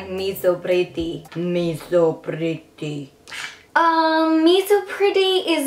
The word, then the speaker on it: Miso Pretty: It's actually spelled like miso, but it sounds like Miso Pretty.